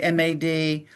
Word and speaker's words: M.A.D: That's a lot of letters and a lot of syllables. So we kept it short and just said MAD.